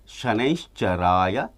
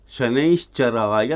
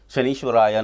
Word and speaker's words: ಶನೈಶ್ಚರಾಯ: ಪ್ರಾಮ್ ಪ್ರೀಮ್ ಪ್ರೌಂ ಸಹ ಶನೇಶ್ಚರಾಯ ನಮಃ ಶನೇಶ್ಚರಾಯ ನಮಃ ಅಂತಲೇ ಹೇಳಬೇಕು ಬೇರೆ ರೀತಿಯಲ್ಲಿ ಉಚ್ಚಾರಣೆ ಮಾಡಬಾರದು ಇದನ್ನ ಶನೈಶ್ಚರಾಯ ನಮಃ ಶನೀಶ್ವರಾಯ ನಮಃ ಅಂತ ಹೇಳಿಬಿಡುತ್ತಾರೆ ಶನೀಶ್ವರಾಯ ನಮಃ ಅಂತ ಹೇಳಬಾರದು ಶನೈಶ್ಚರಾಯ ನಮಃ ಭಾಗ್ಯ ಸಂಖ್ಯೆ ಒಂಬತ್ತು ಬಂತು